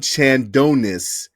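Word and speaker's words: Chandnois: career leader of Michigan State his is Lynn Chad non Lynn Adonis or sorry if I'm butchering your last name sir but it's uh Lynn Chandon I'll spell that for you guys it's c h n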